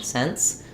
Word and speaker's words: cents: being mostly the same because the T basically drops when we have an NT and S sound cents dollars and cents um but technically there's a little bit more of a stop there for the UN at least T um so I would